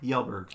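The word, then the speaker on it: Kjellberg: the pew pew the pew pew Felix PewDiePie yelberg I just like to hear him say that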